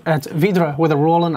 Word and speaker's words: Vydra: VYDRA. It's pronounced as the Russian one with Otto that I can't properly say because I'm not Russian and therefore cannot roll my R's properly.